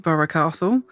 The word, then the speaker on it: Burgh Castle: to the conclusion that we're pretty sure that it should be pronounced borough castle so that's what we'll